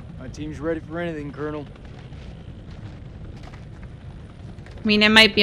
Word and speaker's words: colonel: time pronouncing it but why do they say like colonel and not like colonel these people are not